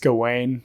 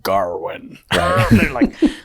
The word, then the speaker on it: Gawain: mean for one like i'm pretty sure it's pronounced gawain but like in the whole thing they're like garwin garwin do this um but yeah